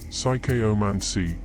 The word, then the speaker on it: psychomancy: The term psychomancy, pronounced psychomancy, is derived from two Greek words.